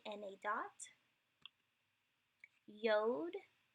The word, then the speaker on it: Yod: Yod, it's a Y sound, hence the transliterated version is a Y, and it's pronounced like the Y in Yale.